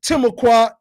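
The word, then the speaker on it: Timucua: of fort caroline and the timocoin of florida because i believe that's how you really pronounce the name and it says selected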